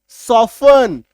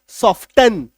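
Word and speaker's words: soften: ठीक है, ये देखो, इसका हम लोग क्या पढ़ेंगे, टी को काट दो अब पढ़ो सॉफ्टन, नहीं तो लोग इसमें क्या गलती करते हैं, सॉफ्टन ऐसे पढ़ते हैं।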